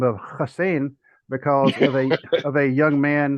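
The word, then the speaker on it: Hossein: Of course, we always say Hussein because we see that's the way it's spelled. Hmm. And he said it was actually pronounced Hussein.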